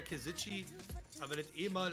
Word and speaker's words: Kesici: Käse Ski. Also Käse und Ski. Ja, fällt auf. Weil ja, tut mir leid. Ich mit. Eigentlich heißt es ja Käsitschi, aber wenn das eh